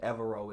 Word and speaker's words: Evero: Broncos defensive coordinator I believe it's pronounced iro evero and if I'm not pronouncing that uh correctly I sincerely apologize I do not want to butcher anyone's name but I do know that everoe is correct so the new hire of DC